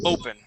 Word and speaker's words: open: Still a hint of an ah there instead of an o. Okay, so it's you're saying open. Okay, it's o, open.